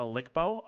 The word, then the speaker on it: LCBO: It's pronounced a Lickbo. Okay, the Lickbo.